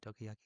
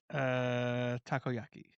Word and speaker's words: takoyaki: Tokiyaki. Takoyaki.